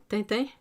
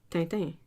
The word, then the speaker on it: Tintin: and all that, and you hear Americans say Tintin, and they can't. They just can't. They cannot say it right.